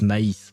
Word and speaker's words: maïs: I don't know how you pronounce that in English, but in French it's maïs, but yeah, corn.